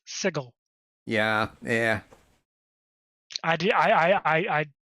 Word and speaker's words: Sigil: to correct you there apparently it is canonically pronounced sigle yeah yeah I did I I I I